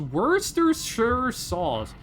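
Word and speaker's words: Worcestershire: It would be pronounced Worershaw.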